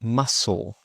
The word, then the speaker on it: muscle: For example, muscle.